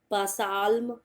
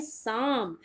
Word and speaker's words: psalm: ये है पहला वर्ड PSALM, पसाल्म। पसाल्म आप नहीं बोलोगे, आपको इसे प्रोनाउंस करना है साम, क्योंकि इसमें पी भी है साइलेंट और एल भी है साइलेंट।